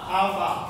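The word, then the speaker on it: α: 阿尔法非常好，好会念吗？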